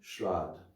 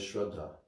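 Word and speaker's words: śrāddha: none to offer them shrad what devotees always mispronounce it because it's spelled almost the same they they they read it as shraddha it's not a shradd with a long a and double d what is that oblations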